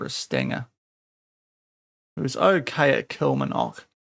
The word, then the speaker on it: Kilmarnock: That might be a goer over a Stanger, who's okay at Kilmarnock. Or Kilmarnock, get your pronunciations right, Sean.